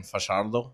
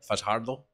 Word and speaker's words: Fajardo: almost a necessity yeah we're over here in fashaldo Fajardo everybody correct your pronunciation and it's kind of